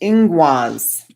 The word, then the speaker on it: Ingwaz: Ingoose, pronounced ingwaz.